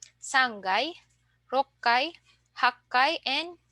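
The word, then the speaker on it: 六階: So we have ikkai, sangai, rokkai, hakkai, and jukkai. Okay? So let's try to pronounce from 1 to 10.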